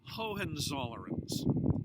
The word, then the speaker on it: Hohenzollern: gonna say it a couple of times and spell it twice for you they're the Hohenzollerns HOH DM zo ll er M that's the